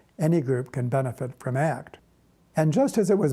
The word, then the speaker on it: ACT: therapy or training or act which is pronounced as a single word the tan act can